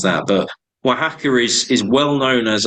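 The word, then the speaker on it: Oaxaca: CA and it's like how on Earth you pronounce that but W hacker is is well known as a um a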